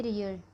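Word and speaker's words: 리을: नियन थीत, यह है रियल। ठीक है, इसको बोलेंगे रियल। ये शुरू में आएगा तो रा प्रोनाउंस करेगा, और लास्ट में आएगा तो ला। यदि बीच में आएगा तब भी रा होगा।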